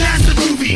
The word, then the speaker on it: asdfmovie: Just take a look and ask the movie. Yes, that is how you say it.